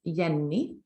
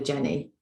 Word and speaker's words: Jenny: yeni so when I say that slowly you can see how the English phonetics are not straightforward as you would think of a Jenny because it's not pronounced that way it's pronounced in Swedish in a different way so we have basically